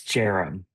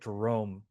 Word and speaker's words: Jarom: It's Jarom.